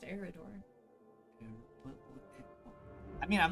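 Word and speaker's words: Eriador: It's Eridor. Why is there an eye in it then? Eridor. Okay, put a shadow in. It's just pronounced Eridor.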